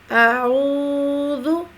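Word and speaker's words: أعوذ: اعو، اعو، او، اعو۔ عین کا فرق جو ہے وہ ہمیں واضح کرنا ہوگا۔ عین کا تلفظ جو ہے وہ زبان کی جڑ کو حلق کے ساتھ مضبوطی کے ساتھ دباتے ہوئے باریک مگر رگڑ کھاتی ہوئی آواز کے ساتھ ادا کیا جاتا ہے۔ عین، عین، یہ اس کا مخرج ہے۔ اب ہم اس کو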